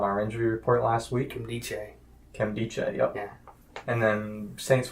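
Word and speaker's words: Nkemdiche: Kemdiche, yep.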